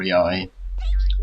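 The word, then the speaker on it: Yae: That is up until you get Yay, at least. Or Yai, to use the right pronunciation.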